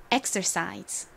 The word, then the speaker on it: exercise: 쓰였습니다 그리고 끝에가 있는데 이렇게 단어가 se 끝나는 경우 se 스 혹은 드 소리가납니다 여기서는 드 소리로 쓰였어요 읽어 보면 exercise 됩니다 따라해 보세요 exercise exercise